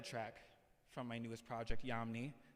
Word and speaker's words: Yamni: actually the title track from my newest project, Yamni, spelled Y-A-M-N-I. So, just in case you don't know how to spell that for some reason, but it's all good.